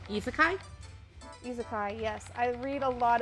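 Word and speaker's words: isekai: don't know how to say it correctly isakai izakai yes i read a lot of izakai it's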